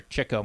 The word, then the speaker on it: Chico: and I never saw him perform, obviously, is Chico Marx, or Chico Marx is actually how I pronounce it.